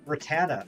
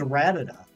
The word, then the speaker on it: Rattata: anime and you know back in the old Canto days it was ratted up I don't know when it became Rattata turns out you never